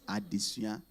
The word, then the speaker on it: Adesua: It's not Adesua, it's Addition.